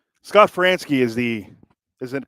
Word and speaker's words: Franzke: Frank how do you pronounce his name Scott fransky Scott franski is the isn't pronunciation of the Phillies radio play-by-play voice fix